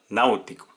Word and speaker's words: náutico: Siguiente palabra, náutico. ¿Cuántas sílabas tiene esta palabra? 3. Náutico. ¿Y dónde está el acento? En nau, en la vocal abierta de la antepenúltima sílaba.